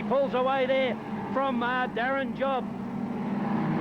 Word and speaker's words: Job: away there from Darren Job. I think it's pronounced Job actually, but J-O-B.